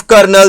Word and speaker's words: colonel: अगला वर्ड मैंने आपसे बोला था कर्नल, तो ध्यान से देखिए spelling of कर्नल COLONEL। COLONEL, that is कोलोनेल, और इसको हम डिलीवर करते हैं कर्नल।